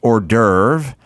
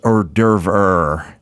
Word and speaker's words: hors d'oeuvre: Yeah, she once was explaining to me that it wasn't pronounced hors d'oeuvre, it was pronounced hors d'oeuvre.